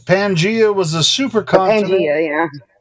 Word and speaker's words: Pangea: Panthea. Right? Correct! Pangea was a supercontinent.